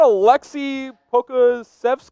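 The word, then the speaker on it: Aleksej Pokuševski: evan harris ambassador devin i'm gonna try to pronounce this yes let's hear it i know you've been practicing how about a lexi pocazefest okay that was pretty darn good now they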